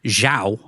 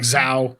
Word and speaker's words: Xiao: Uh, the king tells his son Xiao, I think that's how you say it. Xiao. And they say it different ways in the movie, too. They call him like Zho. Zho. He's supposed to be Xiao, but Jiao.